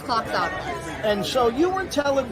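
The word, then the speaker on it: Kloxxado: How do you pronounce this stuff again? This is Cloxado, so it's 8 milligrams versus 4. It's got the Naloxone in it, which is the blocker. Similar to Narcan, but it's Cloxado.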